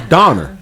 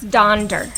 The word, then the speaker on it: Donder: Is that how you pronounce it? I thought it was Donner. No, it's Donder.